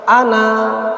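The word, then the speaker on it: أنا: Ana dibaca ana. Nah, gitu ya. Jadi tulisannya itu panjang tapi bacanya pendek.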